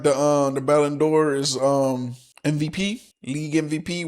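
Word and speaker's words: Ballon d'Or: And um I said it wrong at first. I was saying it was the Ballendor, but it's Ballindor.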